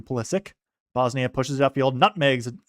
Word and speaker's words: Pulisic: Not Pulisic, as I think ancestrally his name was probably last name was probably pronounced like that, but the American pronunciation now has just gone to Pulisic.